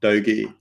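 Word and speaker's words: Doge: those are bitter so bitcoin et h um dogi that's how you pronounce it and safe moon so yeah i'm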